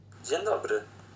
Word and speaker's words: Dzień dobry: Dzień dobry? No, no, no. Not even close again. This one means good day, and here's how you say it. Dzień dobry.